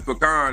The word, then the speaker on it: pecan: But how is pecan if it's P E A P A? Okay, I tell you what. Check this out. If you Google it, Google will give you the right pronunciation and they'll say pecan.